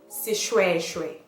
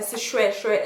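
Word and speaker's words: seshoeshoe: Okay, and then we have the SH, which is pronounced the same way as it is in English. Sh, sh. Sishweshwe. A sishweshwe is a traditional Sotho dress worn by married women.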